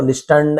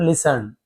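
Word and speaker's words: listen: The monk लिसन टू the young man and replied, साधु ने लिसन, सुना, T silent है, हर बार बता तो लिस्टन ऐसे नहीं पढ़ना, लिसन, सुना, टू द यंग मैन यानी उस नवयुवक की बात को सुनी, एंड रिप्लाइड, और जवाब दिया।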